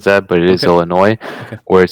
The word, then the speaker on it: Illinois: say Illinois yeah I mean yeah it is Illinois um but some people will say Illinois I don't know if anybody who said that but it is Illinois where it says there's a 72-hour 3-day waiting